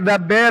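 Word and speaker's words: דבר: Jadi pronunciation-nya harus jelasin dapar atau deper supaya jelas. Ada orang di sini. Dabber boleh dabber.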